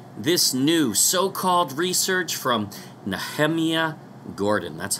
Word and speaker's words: Nehemia: Yehovah, based on this new so-called research from NahamYAH Gordon. That's how he pronounces his name.